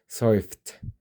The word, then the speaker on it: surfed: So surf in a t sound. Try it again. surfed.